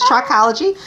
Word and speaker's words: trichology: great first of all thank you for pronouncing it correctly it is trichology natural ecology don't call